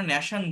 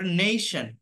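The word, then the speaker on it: nation: যেমন এই, এটাকে এ বলা হচ্ছে না, যেমন মনে করেন এন এ টি আই ও এন, এটাকে আমরা ন্যাশন বলি, বাট এটা নেশন। এই, নেই, নেশন, নেশন।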